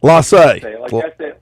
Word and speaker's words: Lassie: Lassie. Lassie. Like S-A-Y. S-A. Lassie.